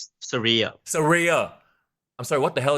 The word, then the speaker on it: Saraya: How do you pronounce the name? Saraya.